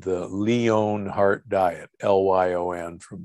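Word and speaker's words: Lyon: disease study called the leone heart diet l-y-o-n from leon france most people know it as the lion heart diet because we don't pronounce it correctly so the the leon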